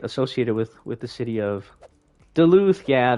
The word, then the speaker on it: Duluth: Associated with the city of Duluth. Yeah, Duluth, Atlanta area.